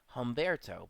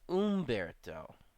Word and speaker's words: Humberto: Like here, Humberto is what I would have thought this would have been said. Humberto, but it's not. It's Umberto. Umberto.